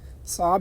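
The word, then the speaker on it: صعب: এখানে লেখা আছে সাব আপনারা সাব বলবেন বলবেন সাব আইনের উচ্চারণটা করবেন সাব এর অর্থ হচ্ছে কঠিন ইস্তেমা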